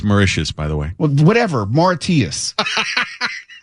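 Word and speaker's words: Mauritius: no I know I couldn't I can't even pronounce a third of them what do you mean name them by it's marous by the way whatever Martius okay I am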